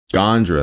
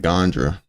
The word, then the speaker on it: Gandra: Gandra, that's how he said it. Ryan Gandra, that's how you pronounce it.